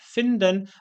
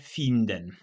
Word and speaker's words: finden: W słowie finden jest krótkie i, które w języku polskim wymawiamy bardziej jako czy w języku niemieckim wymawiamy jako bardziej takie polskie krótkie y, czyli mówimy finden, a nie finden.